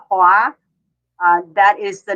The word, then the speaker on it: Hoa: hoa so it's like you just pronounce it like uh moi in french but it's hoa that is the name